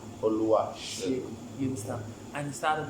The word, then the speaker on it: Oluwaxegun: And then now let's talk about the X on your name and how to pronounce it. My full name first is Oluwa Xegun. Oluwa Xegun.